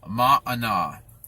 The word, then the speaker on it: manna: butcher the pronunciation but by clearest understanding of how that's pronounced is mana which literally means what